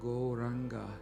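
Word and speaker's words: Gauranga: We are now going to add the mantra goranga to our practice. Goranga has four syllables.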